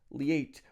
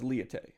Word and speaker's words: LIATE: this at all and that's liate or the cool kids pronounce it as leete and by cool kids i mean literally just myself so this is an